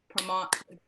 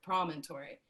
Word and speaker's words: promontory: Promontory. Nope, first syllable. Promontory. There it is. Promontory. That's hard. Promontory. Could you think prominent? Because it's the prominent part of the land where the land meets water. Yes, yes, Becker, yes.